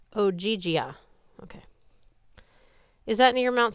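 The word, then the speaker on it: Ogygia: in o o oia she pronounced it like ogia okay is that near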